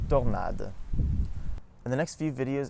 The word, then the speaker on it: tornade: For A, all other pronunciations of O are A, like in organization or tornado, specifically the first O. So we say in French, organisation and tornade.